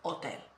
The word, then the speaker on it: hotel: of learning Spanish yeah so we don't pronounce it so hotel we say hotel uh hospital we say